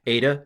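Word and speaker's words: ήτα: anyway AA uh this I'm going to pronounce it as a and I realize that's going to freak a bunch of modern Greeks out and also some purists out because probably at the time of Jesus it was pronounced e but for pedagogical reasons and for the last few hundred years it's been pronounced a uh it's called arasan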